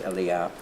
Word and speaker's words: Elijah: I still credit Elia it's spelt Elijah but I believe the proper early in name is Elia and that's how that